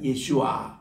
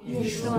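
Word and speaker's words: ישוע: 예수와, 예수와. 요 발음이 정확한 발음이에요.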